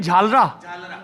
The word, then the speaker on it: झालरा: क्या उच्चारण होगा हिंदी में? झालरा. झालरा. जैसे वो झालरा पाटन है, वैसा झालरा. नहीं, शब्द का उच्चारण तो वही है ना, झालरा.